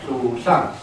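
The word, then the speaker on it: 鲁上: 我们木琴叫鲁上。不好发音，不是阿美族绝对发不了这个音。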